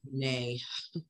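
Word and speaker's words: Brené: Oh, I love Brent Brown, Robin. Yes, clear as kind. Yeah, I like that one too. Brene. I always say your name wrong.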